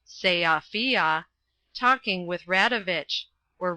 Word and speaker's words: Sofia: was last in Sofia, by the way it is pronounced Seafia, talking with Radovich, or